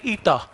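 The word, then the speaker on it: η: इस सिंबल को प्रोनाउंस करते हैं ईटा, अल्फा बीटा गामा डेल्टा ईटा, ठीक है।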